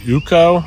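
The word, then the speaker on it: UCO: and this is from a brand I pronounce it uko U and um uko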